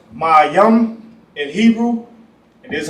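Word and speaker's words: מים: What everybody needs H2O water in English is pronounced mayam in Hebrew.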